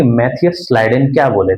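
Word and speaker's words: Schleiden: एक का नाम है मैथियस स्लाइडेन। 1838 में German botanist Matthias स्लाइडेन, Matthias स्लाइडेन, स्लाइडेन की स्पेलिंग SCHLI, मैथियस स्लाइडेन।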